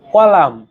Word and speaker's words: column: দেখেন কলাম COLUMN না, কলাম এন এর কাজ কি? COLUMN, কলাম। এ মাসের শেষে এনটা কেন দরকার?